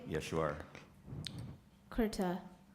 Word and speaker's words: kurta: caviar your word is kurta kurta am i pronouncing you're right yes you are kurta k u r t a kurta correct so